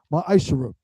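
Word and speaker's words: מעשר: Means 10th in Hebrew, and it's pronounced ma'ashara.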